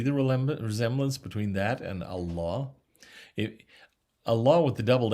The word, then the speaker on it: Allah: say the word is actually pronounced allah with a doubled l allah and emphasis on the second syllable right but i want